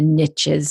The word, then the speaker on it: niches: podcast, and he says riches are in the niches. So that's the only reason to call it niches. It rhymes.